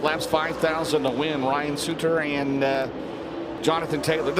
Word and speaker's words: Sutter: Ryan Sutter and uh Jonathan Taylor. Did I say it right? I know it's Sudter. I think of Bruce Sudter, you know, the Hall of Fame pitcher for the Cubs.